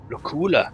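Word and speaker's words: Luculla: Lacula. That's how you pronounce it.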